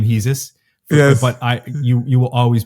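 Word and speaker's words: Jesús: going to call you Jesus for the rest of my life. I know that some people call you Hesus. Yes. You pronounce sometimes your own name Hesus.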